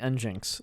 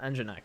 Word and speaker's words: nginx: as njinx true correct the engine sorry the njinx documentation no the nginx darn it owen the nginx documentation says to pronounce it nginx so that's what we're going with um great